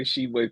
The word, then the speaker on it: Tshiebwe: It's just Tshiebwe. The T is silent.